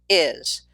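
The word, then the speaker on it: hay: with two words there is there are in Spanish we just say I and I've put this little I on the screen like the I in your head to remind you how it's pronounced I I good now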